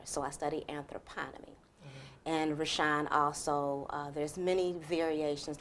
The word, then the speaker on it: Reshounn: So my name is Reshounn, and Reshounn is spelled R-E-S-H-O-U-N-N.